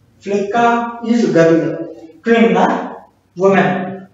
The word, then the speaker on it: kvinna: We will pronounce it like flicka. Flicka is girl. Kvinna, woman. Kvinna.